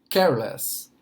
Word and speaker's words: careless: A maior parte das vezes vai estar mais para o início da palavra o som mais forte, a sílaba mais forte da palavra em inglês. Nesse caso aqui, por exemplo, careless, careless. O careless vai estar muito mais